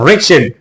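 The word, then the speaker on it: wretched: है वो है रिचड ये रिच नहीं है रिचड रिचड का मतलब है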